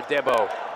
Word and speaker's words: Adebo: Ifamara Adebo. Yeah, his first bucket. Yeah, it's actually pronounced Dabo.